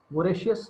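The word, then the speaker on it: voracious: तो अब ये वोरेशियस है, वोरेशियस इसका राइट प्रोनाउंसिएशन है।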